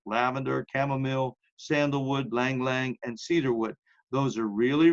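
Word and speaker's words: ylang-ylang: y-l-a-n-g hyphen y l a n g it's pronounced Lang Lang and Cedarwood those are really good so again it's uh like lavender chamomile Sandalwood ylang ylang and Cedarwood those are really really good in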